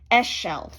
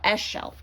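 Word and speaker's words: Ixchel: Eschel. There we go. Eschel.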